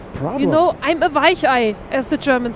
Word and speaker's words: Weichei: You know, I'm a Weichei, as the Germans say.